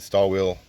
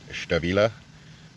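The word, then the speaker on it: Stahlwille: Now I pronounce it stall wheel. I believe in Germany they actually pronounced it Stabila, but I'm probably butchering that.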